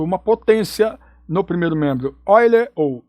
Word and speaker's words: Euler: Euler porque é alemão, então a gente pronuncia Euler, o E.